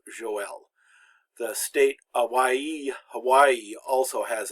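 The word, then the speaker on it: Joël: And then the Hebrew prophet Joel also has 2 dots over the trema to indicate that it's pronounced 2 syllables Joel.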